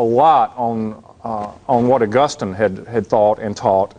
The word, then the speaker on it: Augustine: to in a Germanic tongue like English as Augustine St Augustine of Hippo so uh those are the two great theologians uh aquinus built a lot on uh on what Augustine had had thought and taught and preached and